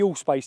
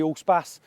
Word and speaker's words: Allspace: I think it's more bougie if you say Allspass. Anyway, this is the new Tiguan Allspas. Basically, all space, however you want to say it, depending on where you're from.